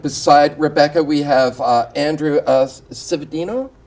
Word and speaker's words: Cividino: Right beside Rebecca, we have Andrew Cividino. How was that pronunciation?